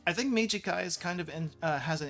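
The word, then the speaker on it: 短い: Mijikai. I think Mijikai is kind of has an interesting pronunciation because if you just remember the short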